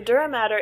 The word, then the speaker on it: dura mater: Okay, and even though it's not spelled like matter, like what we've talked about in other science classes, that's typically the most common way of saying dura mater.